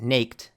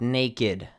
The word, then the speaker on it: naked: So naked is not pronounced naked, but naked, which means not having clothes.